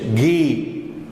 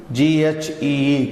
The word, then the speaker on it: ghee: Something like in English, Indian English, ghee, G-H-E-E, clarified butter, ghee.